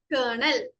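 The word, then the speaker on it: colonel: സോ ഇവിടെ ആ ഒരു OL, it is completely silent and we read it as kernel.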